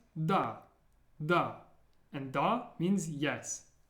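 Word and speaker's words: да: It's pronounced da, da.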